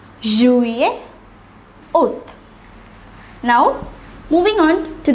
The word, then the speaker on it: juillet: May, juin, juillet, août.